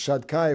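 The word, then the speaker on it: Shaddai: of the Hashem's names, is these Shad and then Dai. We say it's Shad Kai because it's one of Hashem's names and we don't want to pronounce it the way it's written.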